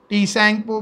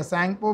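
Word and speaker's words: Tsangpo: पे उसका नाम है सैंगपो। टी सैंगपो बोलो आप चलेगा, या सैंगपो बोलो, टी साइलेंट रखो।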